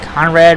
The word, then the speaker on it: Conrad: So, Conrad rhymes with Vlad.